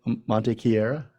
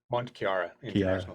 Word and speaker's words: Mont Kiara: marketing and Communications for help me pronounce this is it Monte Cara Mont Kiara yeah and Malaysia yeah wow